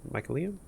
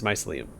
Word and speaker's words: mycelium: or the mushroom people it's a hard sea but it's mycelium or is our friend's